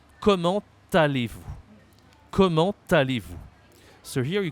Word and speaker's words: comment allez-vous: So you're gonna first say, comment allez-vous? Comment allez-vous? So here you can say we have to say the T because there is a vowel here. So we make the link, the liaison here.